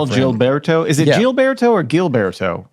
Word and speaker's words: Gilberto: to pronounce it right jilberto is it jilberto or Gilberto jilberto so is it GS or jets it's definitely gets St get so gets with a G but jilberto with a G it's